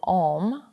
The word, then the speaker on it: Om: sound of the universe it's a-u-m om so you can think about that three different syllables the ah is the a the is though and the um so when we chant